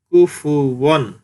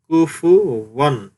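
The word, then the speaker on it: كُفُوًا: আলিফ দুই জবর ওয়ান, কুফু ওয়ান। সুপ্রিয় দর্শক, আপনারা জানেন ফায়ের উচ্চারণ সামনের উপরের দুই দাঁতের আগা নিচের ঠোঁটের পেটের সাথে মিলিয়ে উচ্চারণের সময় বাতাস বের হবে, কুফু, কুফু।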